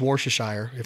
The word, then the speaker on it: Worcestershire: I've always used Worcestershire. Am I pronouncing that right? Yep. I love Worcestershire as a base for any wild game, if I am going to use a wet marinade.